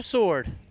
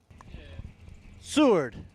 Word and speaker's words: Seward: Up against Tom Sword. Seward. I knew I said it wrong.